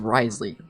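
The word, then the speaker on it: Wriothesley: they spell it out as R orley but it's Risley like what the why is there W in there what do you mean it's pronounced Risley like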